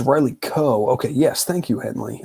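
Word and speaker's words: Riley Keough: gross kind of uh movies if oh it's Riley Koh okay yes thank you Henley um I I was not sure the pronunciation shout out to Henley um and um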